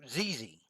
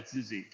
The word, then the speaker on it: Zizzy: all right number one first off am I pronouncing that correctly I want to get your name right what are your pronoun I go by zizzy all right zizzy so